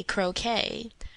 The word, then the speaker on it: croquet: And your pronunciation's okay when you correctly say croquet, rounded, wounded, grieve and sieve, friend and fiend, alive and live.